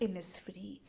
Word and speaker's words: Innisfree: difficult लग रहा होगा इसको हम प्रोनाउंस करते हैं ए इनस फ्री ठीक है तो यह